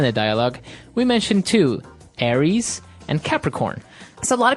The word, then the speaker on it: Aries: And so one of the famous fire signs is Aries, right? Aries. It's like the god of war in the Greek mythology. That's right. And u So it's pronounced Aries. Aries.